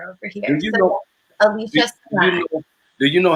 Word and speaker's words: Alicia Samaan: And when people actually get it right, I'm like, oh, you pronounced my name right. Alicia Samaan.